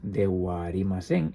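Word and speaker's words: ではありません: Pues en su variante formal será de Arimasen, son dos as. De arimasén.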